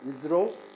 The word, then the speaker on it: ISRO: common expansion of ISRO isro is Indian space Indian Space Research Organization. It is Indian Space Research Organization. We pronounce it as ISRO and it was asked in October 2012.